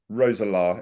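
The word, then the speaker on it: Roeselare: executive at Belgian Club and forgive my pronunciation ksv rosalar is that correct correct correct okay oh well good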